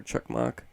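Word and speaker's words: Çakmak: inspiration on me um anil chakmak uh or chuck mock it's spelled with c with the lower tail coming out of the bottom i believe that's a sound it's turkish um he's awesome uh joey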